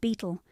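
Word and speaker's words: betel: Bettle, pronounced beetle, is the leaf of a climbing plant into which a morsel of araca nut and lime is rolled.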